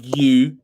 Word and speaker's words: Guiu: How do you say Mark? I said Mark Gooey, didn't I? Mark Goo. Yeah. Yeah. Mark Gu.